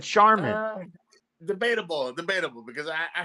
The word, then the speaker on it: Charmin: see backwards charmon charmon how do you pronounce charman Google says Sharman yeah there's whitewashed and racist Shan I'm gonna side with the blacks on this one charman charman charman charman see you kind of said it Mexican style and I I think you said it right this time they don't know